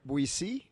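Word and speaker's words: Boétie: It's Etienne de la Buissy.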